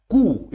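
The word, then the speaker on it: coup: हिंसक विद्रोह के सिवा जिसको कहते हैं खूब इसमें पीस साइलेंट होता है कि देता एकूण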